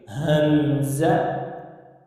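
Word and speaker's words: همزة: वाली हा आती है, जब इसको हम प्रोनाउंस करते हैं तो इसके शुरू में ये वाली हा आती है। हमज़ा, हमज़ा नहीं पढ़ना या खमज़ा नहीं पढ़ना, बल्कि हमज़ा, ठीक है।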